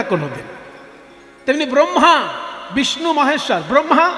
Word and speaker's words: ব্রহ্মা: ব্রহ্মা রফলা বলে, ব্রহ্মা বিষ্ণু মহেশ্বর।